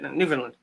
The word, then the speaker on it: Newfoundland: I'm not sure yeah it's new found land because you guys are real original when you named it Newfoundland not New Finland Newfoundland